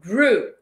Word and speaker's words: grew: E ó, grew. Mais uma vez, grew. Aí você pode lembrar de grew dos Minions, right? Ok, mesma pronunciation.